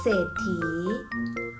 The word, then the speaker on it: เศรษฐี: ว่า ว่า โศก เศร้า เศรษฐี อ่าน ว่า ว่า เศรษฐี ปราศรัย อ่าน ว่า ปราศรัย พยัญชนะ ต้น สอเสือ ควบ กับ ร เรือ อ่าน ออก เสียง ศ.